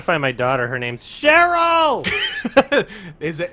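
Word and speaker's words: Cheryl: I'm trying to find my daughter her name's cherl is it it's pronounced like that yes okay oh yeah I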